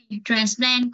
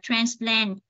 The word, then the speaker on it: transplant: Nếu nó là danh từ chúng ta đọc là transplant nhấn vần 1. Nếu là động từ chúng ta đọc là transplant chúng ta nhấn vần 2.